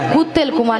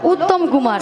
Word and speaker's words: উত্তম কুমার: বলেছি শ্রী শ্রী ঠিক করে উচ্চারণ করো তুমি উচ্চারণ করো ভালো করে বলো বলো শ্রী শ্রী শ্রী শ্রী শ্রী শ্রী উত্তেল কুমার নয় বলো উত্তম কুমার হ্যাঁ উত্তম কুমার উত্তম কুমার তোমার নাম মিয়া